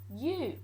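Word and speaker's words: ú: So the U is pronounced like the U in brute, not a U as in under, for instance, or uppity. And a Sindarin word of U is you, and that means no.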